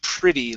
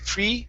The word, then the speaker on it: pretty: Okay, next up is pretty. Let's use a short I sound instead of pretty. Pretty, it's pretty. Pretty.